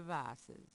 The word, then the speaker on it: vases: Gabriel has no reason to move the vases. Vases? Mm-hmm. Right. That's how they say it in Trini.